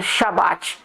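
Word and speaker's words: שבת: Nenhuma nação fora de Israel pronuncia a palavra correta Shabat.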